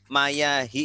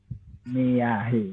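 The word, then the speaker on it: مياه: Babul tadi bacanya itu mayahi ya. Iya. Ini bacanya harusnya gimana, Pak? Miyahi. Nah, kalau ininya sudah benar, akhirannya sudah benar ini. Ya. Karena dia sebagai apa? Mudhof ilaih. Mudhof ilaih ya. Cuma ini nih mayahi. Nah, ini belum benar. Memang ini jamak taksir ya, harus dihafal bentuk jamaknya. Maun miyahun gitu. Jadi ini bacanya miyah.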